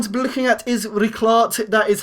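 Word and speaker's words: Rijkaard: then we're going to be looking at is rart that is how you pronounce his name it did give me a bit of trouble pronouncing it but it is rickart he does have over 200 appearances for aax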